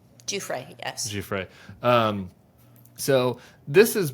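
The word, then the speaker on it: Giuffre: Her name is pronounced Jeffrey. Jeffrey, yes.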